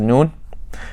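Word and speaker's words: نون: You say you pronounce noon from the tip of the tongue. It's slightly above the gum line, and it's not just the tip of the tongue. It's the top of the tip of the tongue. That's how you get that striking effect. And that's where you pronounce it from.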